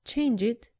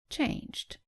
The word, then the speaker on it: changed: Don't say changed, say changed.